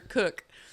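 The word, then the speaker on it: Koch: I used to work for a Dr. Cook, but it was spelled K-O-C-H, and everybody that come in the office would be like, how do I pronounce that? What do I say? And when we would tell them Cook, they'd be like, they just make that up. That's not really the way it's pronounced.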